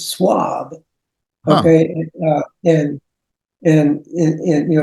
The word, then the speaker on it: Shwab: our name is not Schwab it's swab okay and and and you know so it may be because in French H is silent but I have a